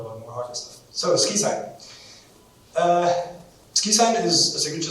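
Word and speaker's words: SQIsign: The pronunciation is again, to make it sound nicer, than SQI.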